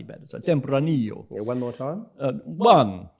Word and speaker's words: Tempranillo: And you've got to channel the count from Sesame Street to pronounce that variety better. So Tempranillo. Yeah, one more time. One Tempranillo.